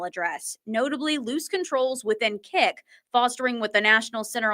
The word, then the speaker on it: Kik: are out there, you might ask, what is Kick? And it's spelled Kik is a social media app that